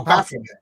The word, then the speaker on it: Baphomet: I don't know how to pronounce it right. Baphomet. Oh, Baphomet.